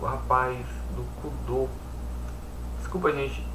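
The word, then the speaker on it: Kudo: Eh, tem também o rapaz do Cudô. Desculpa, gente. É cudô mesmo. É, chama cudo, mas é cudô porque a pronúncia é ó, judô e karatedor, e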